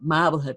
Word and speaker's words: Marblehead: and moves to Marblehead you have to say it like that model had Massachusetts where her father